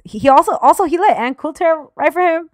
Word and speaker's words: Coulter: But anyways, he also he let Ann Coulter write for him.